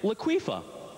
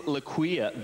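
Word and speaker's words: Laquefa: I was like, Laquifa. No, what an interesting name. She throws down the plate. She's like, uh-uh, it's Laquia. The F is silent.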